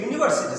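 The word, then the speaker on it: university: খেয়াল করো, হি ইজ এ ইউনিভার্সিটি student, তাহলে এখানে আমরা দেখতে পাচ্ছি স্পষ্ট ইউ একটা ভাওয়েল, কিন্তু তারপরও এই জায়গায় ইউনিভার্সিটি উচ্চারণ করতে গিয়ে ইউর উচ্চারণ কিন্তু ইউর মতো হয়, কোনো অদল বদল চেঞ্জ নাই।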